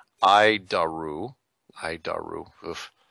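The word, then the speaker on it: ADIRU: data initial reference unit we pronounce it ID aru hide our roof it's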